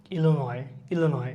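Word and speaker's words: Illinois: এটা হচ্ছে কি IAANOIS, উচ্চারণ হচ্ছে কি ইলিনয়।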